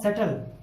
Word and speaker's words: subtle: हम इसको सटल नहीं कह सकते क्योंकि टी से पहले बी आया हुआ है, इसलिए हमने बी को कर दिया साइलेंट। तो बी को साइलेंट करने की वजह से बी की ध्वनि नहीं आई और उसकी वजह से हमने इसको पढ़ा सटल।